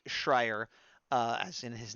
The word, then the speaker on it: Schreier: I always get his name wrong, so I wrote this down. Schreier.